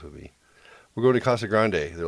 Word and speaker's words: Casa Grande: york if you're no people in arizona don't use accents when they pronounce spanish things which always just messes with me we're going to casa grande they're like casa grande